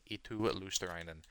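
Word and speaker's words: Eetu Luostarinen: Eetu Luosterainen.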